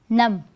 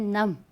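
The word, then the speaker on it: numb: we have other word num i went num i was so nervous or you can say i went num again b is silent so i hope you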